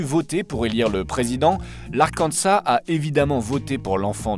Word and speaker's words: Arkansas: on va partir dans un état avec un s à la fin mais où on ne prononce pas le S mesdames messieurs bienvenu non pas dans l'Arkansas mais dans l'arkansa